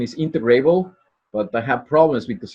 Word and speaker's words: integrable: I think the correct pronunciation is integrable, but I have problems because in French it's integrable, and then and so it's in Spanish. So that's but the correct pronunciation is integrable.